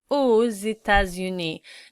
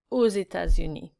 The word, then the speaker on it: aux États-Unis: It's pronounced the same, we don't pronounce the X at the end, so je vais aux États-Unis.